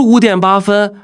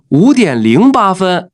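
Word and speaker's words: 五点零八分: số 0 ở giữa Phải đọc ra số 0 Ví dụ: 5 giờ 08 phút không đọc là “wǔ diǎn bā fēn” Mà là “wǔ diǎn líng bā fēn” Ví dụ như 10 giờ 5 phút.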